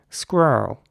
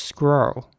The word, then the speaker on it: squirrel: Whereas in American English, it would be more like squirrel. So the R's are very rounded in American English, squirrel.